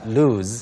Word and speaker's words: lose: L-O-O-SE는 S 발음으로 loose 그리고 L-O-S-E는 Lose. lose. Lose. Z 발음으로 Like a Z.